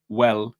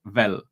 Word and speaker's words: well: So when you need to say well, you say vel.